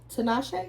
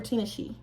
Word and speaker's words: Tinashe: Wayne, Maya, Tinashe or Tinashe? It's spelled like Tinashe. it's spelled like Tinashe. Tinashe. It's spelled like Tinashe. Right. But Tinashe. We're not gonna disrespect Tinashe. It sounds like a drag. Respect her name.